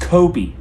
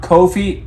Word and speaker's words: Kobe: It's pronounced Kobe. Kobe Bryant. LeBron James. Not Kofi and LeBron.